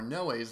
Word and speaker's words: Noé: of the episodes and pointed out that I have been pronouncing Gaspar Noé's name incorrectly last episode. I think I used to actually call him Noe, and then I think I heard somebody else say no, and I think that's